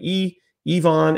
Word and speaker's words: Yvan: it is Ivon so the Y is pronounced like an e ion and then it's not